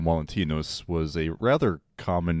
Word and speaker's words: Valentinus: Valentine, or as it would have been pronounced at the time, Valentinus, was a rather common name.